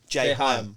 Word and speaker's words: J.Hyamm: How'd you pronounce it? JHyamm. Oh, JHyamm. Yeah. I thought you said JHyamm. No, I don't like J- ham.